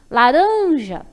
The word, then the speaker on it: laranja: E a tônica vai ser o ran, porque quando eu pronuncio, eu demoro mais nela.